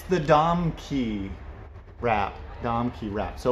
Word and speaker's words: Domke: one for you too what rhymes rhymes with rom key and is super helpful and useful it's the dom key wrap dom key wrap